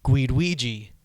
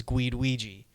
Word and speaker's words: Guiduigi: It's pronounced Guiduigi, like Guido Ouija, but the word is Guiduigi.